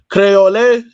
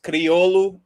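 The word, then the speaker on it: Kriolu: Um, now like cuz I know I know um Kver Verdians, they speak the language called Crayole. That's is am I saying it right? is is creolu which like there's a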